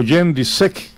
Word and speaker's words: Jędrzejczyk: Por el título mosca, Valentina Shevchenko se enfrentará a Joanna Jędrzejczyk, o Jędrzejczyk, que es la pronunciación correcta, el 8 de diciembre en Toronto, Canadá.